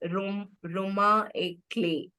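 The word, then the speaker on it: roman à clef: So again, this is a French word which is pronounced as Roma et clé, meaning that it represents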